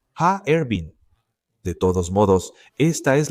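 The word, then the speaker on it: Harbin: Ervin, no Harvin, ya que son tres sílabas. Ha, Ervin.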